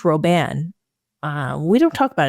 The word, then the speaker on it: Robin: Pierre Robin sequence um I've heard of pronounced roban uh we don't talk